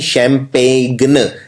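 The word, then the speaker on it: champagne: Spelling है PAGNE यानी शैम्पेन। इसमें जी आता है, और 90% लोग ये वाला जी नहीं लगाते हैं, क्योंकि ये जी बोलने में नहीं आता है, ये साइलेंट होता है।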